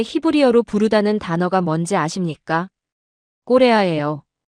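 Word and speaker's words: Korea: 꼬레아예요. 발음이 완전히 똑같습니다.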